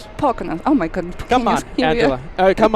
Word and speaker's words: Poconos: Poconos. Poconos.